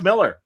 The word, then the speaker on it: Millar: Miller or Millar? I was saying Millar, but he says Miller. Well, yes, Mark says Miller. He said that it was a mispronunciation by North Americans, and he's like, it sounds very classy, but it's Miller. It's just Miller.